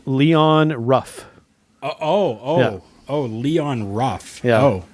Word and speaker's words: Leon Ruff: Leo Rush? Leon Ruff.